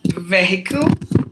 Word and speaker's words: vehicle: Vehicle, not vehicle, because the H is mute.